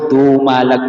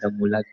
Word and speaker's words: Dumalag: Hindi, nagkamali ako. Yung pronunciation ko, Dumalag pala, hindi siya Damulag. Dumalag, kaya hindi Damulag.